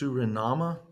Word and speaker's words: Suriname: You can see how it's pronounced, Suriname, formerly called Dutch Guiana.